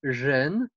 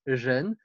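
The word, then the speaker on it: 仁: un caractère extrêmement riche il se prononce gêne exactement comme le mot homme gêne et d'ailleurs vous avez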